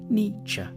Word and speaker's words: Nietzsche: The first bit should sound like ni, the second like cha, Nietzsche.